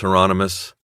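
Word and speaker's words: Hieronymus: Out of the blue and into the black, he looked at Bosch through the camera and said, "Remember the promise, Heronmous." Rhymes with anonymous, Bosch said.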